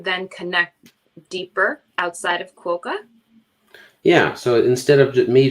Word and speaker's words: QUOKA: My question with this, and is it pronounced QUOKA?